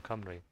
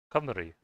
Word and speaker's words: Cymru: I've even experienced it myself, listening to songs sung in Welsh or in Cymru.